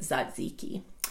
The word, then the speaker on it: tzatziki: to say it so the T is silent it's it's kind of an unusual spelling it's a Greek word TZ a TZ i ki i I ki but you say it Zod's iki however you say it